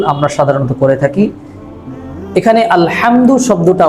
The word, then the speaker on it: الحمد: এখানে আলহামদু শব্দটা উচ্চারণ করার ক্ষেত্রে হাহুত্তি এর জায়গাটায় সাধারণত আমরা হাই হাওয়া যেটা আছে এই হরফটা উচ্চারণ করে থাকি।